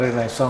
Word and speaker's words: Renaissance: Bacanya Renaissance.